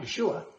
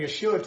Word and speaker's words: Yeshua: It's not Yeshua. And you know why? Because Yeshua has a SH sound in it, and Greek doesn't have an SH sound. So in transliterating Yeshua to Greek, they made it Jesus.